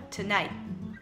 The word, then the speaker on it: tonight: Agora o tonight, você não pronuncia esse T final. Então é tonight.